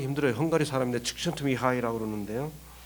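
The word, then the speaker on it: Csikszentmihalyi: 참 발음하기 힘들어요. 헝가리 사람인데 칙션트미하이라고 그러는데요.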